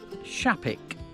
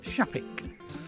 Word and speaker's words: Shapwick: star and it's called shaik it's actually spelled with a w s h a p w so shapwick but um pronounced shaik uh and we're going